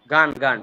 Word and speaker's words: gone: Have you, have you গান, have you গান। Have you গান হবে না, উচ্চারণ হবে গন।